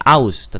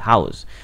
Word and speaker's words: house: hanya itu terbaca haus kita enggak mengucapkannya austen tapi haus maka kata haus apabila